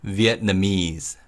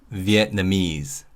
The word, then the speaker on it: Vietnamese: When you say Vietnamese, the stress is on me. So, it's Vietnamese. Vietnamese.